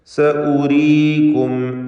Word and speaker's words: سأريكم: സഉരീകും ആയാതി അവിടെ ഒരു വാവ് വെറുതെ എഴുതിയതായി കാണാം. അതിന് മുകളിൽ പ്രത്യേകമായ വൃത്താകൃതിയിലുള്ള ചിഹ്നം കൊടുത്തിട്ടുണ്ട്. ഒരിക്കലും ഉച്ചാരണത്തിൽ ആ വാവ് ഉണ്ടാവുകയില്ല എന്ന സൂചനയാണ്.